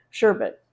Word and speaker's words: sherbet: because they do have sherbet in it. Sherbet. I always put an R in there. I mispronounce it, but it's really easy.